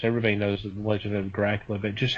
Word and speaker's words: Dracul: you that the actually the name Dracula um is a uh bit of a mispronunciation of dracul son of the Dracula okay which is of